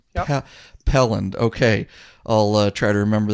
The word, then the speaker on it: Pelland: First one, Pelland. Yep. Pelland.